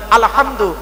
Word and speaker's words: আলহামদু: পড়ি আলহামদুলিল্লাহি রাব্বিল আলামিন আলহামদু এ গলার ভেতর থেকে এটা উচ্চারণ করবে আলহামদু মানে হচ্ছে সমস্ত